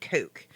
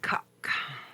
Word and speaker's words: Coke: from a Sir Edward Coke. I'm sorry, let me pronounce it correctly for you. It's not Coke. His proper pronunciation, because he's English, is cuck.